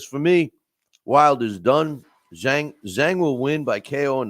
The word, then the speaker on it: Zhang: And that is Deontay Wilder's strength, is his power, and it's going to boil down to if Zhang can catch him, or Zhang, the way it's pronounced, if he can catch him.